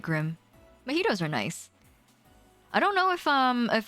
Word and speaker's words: mojito: a mojito um is is supposed to be a mojito but i like i just like to call it a magito because it's fun that way um majido komaida the